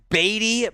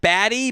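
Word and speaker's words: Badie: pick i love it it is pronounced baby by the way not batty but i'm kind of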